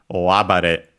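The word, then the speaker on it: 大暴れ: We'll check its accent. Okay, and this one is accented on the A. So the first part, the first syllable of the second part of the compound, another typical location, o abare.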